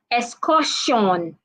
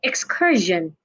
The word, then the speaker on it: excursion: Jun hello Matilda welcome so many people would always say excussion no it's not excussion it's not Sean it'san Excursion Excursion not excussion why because we have